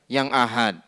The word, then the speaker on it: ahad: Apakah itu hadis yang mutawatir ataukah itu hadis yang ahad. Kemudian beliau di sini memberikan penjelasan apa yang dimaksud dengan hadis ahad. Bukan hadis ahad ya, cara membacanya ahad. A-nya dipanjangkan, H-nya juga dipanjangkan.